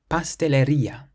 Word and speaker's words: pastelería: The next word has an accent on the I, and it means cake shop. We pronounce it pastelería, pastelería. The next word means heat,